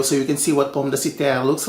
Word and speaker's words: pomme de terre: It is a French name, pomme de terre.